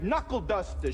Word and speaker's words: knuckleduster: a silent K is that's when K is at the beginning of the word but you don't pronounce it like in the word knuckleduster show buddy not the